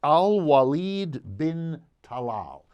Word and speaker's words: Al-Walid bin Talal: His name, for everyone to know, and I want to be sure to pronounce it correctly, Al-Walid bin Talal.